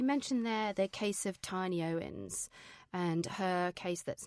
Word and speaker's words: Tini: It's actually pronounced Tini.